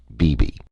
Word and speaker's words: Beebe: more than extraordinary teacher Beebe which is her pet name for Buffalo Bill she pronounces it bebe he has not only